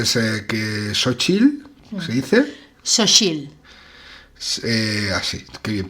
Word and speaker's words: Xochitl: Xochitl. Así, qué bien pronunciar.